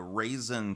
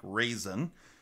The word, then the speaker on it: Ruixin: called the raisin pro I did not know how to pronounce that word until some of the viewers actually explained to me how this Rui Xin is pronounced and it is pronounced apparently like raisin so anyway we're just